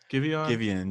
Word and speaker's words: Giveon: Giveon, yeah.